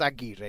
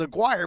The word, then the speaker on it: Aguirre: It's just Aguirre. You don't have to go all crazy and pronounce it like if you were Italian.